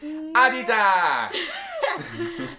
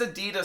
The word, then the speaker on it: Adidas: He says Adidas so funny. And I'm like, it's not Adidas. His name is Adidasler.